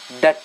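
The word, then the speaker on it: debt: B silent रहेगा। यहाँ समझने वाली बात है, हम शॉर्ट हैंड में साउंड पे काम करते हैं। तो बी साइलेंट है तो इसको डेप्ट नहीं बोलेंगे, डेट बोलेंगे। कुछ बच्चे हैं जो डेप्ट बोलते हैं, वो गलत बोलते हैं, ठीक है।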